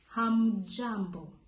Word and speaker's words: hamjambo: But when there are many, you say hamjambo. Hamjambo. Remember, the pronunciation has to be strong, guys. You have to put in emphasis on the hum.